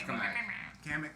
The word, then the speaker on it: Kamek: It's Kamek. Kamek, whatever you Yeah. want. He has another name He has too, the Tinkerbell right? powers and shit. Huh? Doesn't he have another name? In Japanese, Kamek.